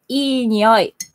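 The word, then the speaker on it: いい匂い: smell is, we say ii nioi in Japanese. Ii nioi. Like, ah, ii nioi. Ii means good. E, like just pronounced like A, B, C, D, E is E, you know.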